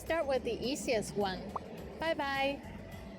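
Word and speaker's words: 拜拜: It sounds like the English bye-bye. But be careful to start with the first tone, bye, followed by another one in the third tone, bye, bye bye.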